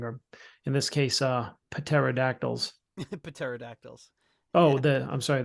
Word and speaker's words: pterodactyls: in this case uh paterodactyls paterodactyls oh the I'm sorry the p is silent but pateri remember uh